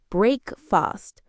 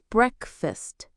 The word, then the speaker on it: breakfast: Some learners pronounce the EA clearly, like breakfast, but native speakers often say breakfast. Yes, the A sound becomes a schwa.